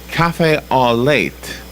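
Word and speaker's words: café au lait: looks like a cup of coffee to me cafe all late right yes is that how you pronounce that Robin yeah looks like coffee with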